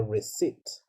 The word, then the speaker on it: receipt: number 11 is rig crate no there's no problem there's no need to pronounce the p right the p is silent it's just called a receipt right so what is